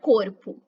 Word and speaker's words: corpo: parte do território brasileiro, sempre que o E e o O estiverem no final da palavra e não tiverem nenhum acento gráfico, o E pode ser pronunciado como I e o O pode ser pronunciado como U. É o caso da palavra corpo e também da palavra mesmo, em que o O passa a ter som de U.